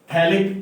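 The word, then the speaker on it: phthalic: देखिए, ये मॉलिक्यूल है CO एंड O, ये जो मॉलिक्यूल है दिस इज थैलिक एनहाइड्राइड। इसमें pH साइलेंट है, साइलेंट का लॉजिक तो मुझे भी नहीं पता नहीं ये अंग्रेजों का है बना दिया है।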